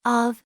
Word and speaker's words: אָב: this is the word for father which is of in Hebrew and a AB in Arabic in